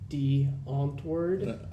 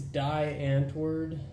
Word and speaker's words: Die Antwoord: to pronounce it so the correct way of pronouncing the awkward's name would be D antwered how about you tell us what do people think commonly refer to Seth people think it's Die Antwoord because it's spelled d-i-e-a-n-t-w-o-o-r-d but I'm not going